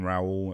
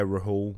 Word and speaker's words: Rahul: became Raul and then I ended up saying Raul at one point which is just not but the pronunciation of my name but then I ran